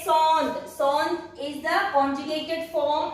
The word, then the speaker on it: sont: Ce sont des pommes. Ce sont des pommes. You will put S here, but you will not pronounce the S. Ce sont.